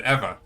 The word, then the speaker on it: Ewa: name tag on, and it said Eva, you know, EWA, right? Right. How would people pronounce that? Like in English, I don't know. Like if an American like saw that name tag, what would they say? It's one of those things now. I guess Ewa.